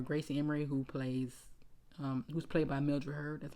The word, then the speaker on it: Mildred Hurd: Her name is Gracie Emery, who's Milroyd Hurd, who's plays Gracie Emery, or Gracie Emery, who's played by Mildred Hurd.